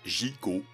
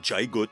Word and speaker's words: Gigot: Bon, Gigo, Jackie Glisson dans Gigo, 1962. Et Gigo, ça doit bien se prononcer Gigo. Gig Gigo et pas Jot par exemple.